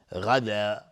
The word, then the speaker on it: غدا: غدا، غین از حروف استعلاء. غدا غدا، دقت کنید. غدا، غین از حروف استعلاء غلیظ تلفظ میشه.